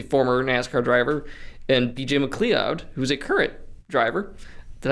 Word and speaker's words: McLeod: Tifft, who's a former NASCAR driver, and BJ McLeod, who's a current driver. Did I pronounce his name right? McLeod.